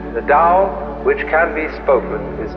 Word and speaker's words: Tao: of nature is for the Dao t-a-o pronounced Dao in the Mandarin dialect how in the changhai